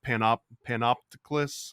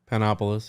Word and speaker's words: Panopolis: And coincidentally, this comes from notes about your homeboy Zosimos of Panopticus. I can't always pronounce it. Panopolis, yeah.